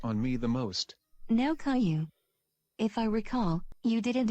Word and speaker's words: Caillou: teacher took role and mispronounced my name as kailu when i told her that my name was caillou everybody started laughing and